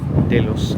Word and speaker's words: Delos: This is our tender boat to Delos or sorry, Delos Island.